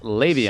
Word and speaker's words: Le'Veon: I'm just telling you, it's pronounced Le'Veon.